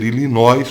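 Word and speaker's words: Illinois: me corrigiu uma ouvinte não é em nós professor assim não deve ser ele nós porque é esse nome ele nós o estado tinha uma influência francesa evidentemente e na pronúncia foi a pronúncia francesa geralmente ignora o s é mais ou menos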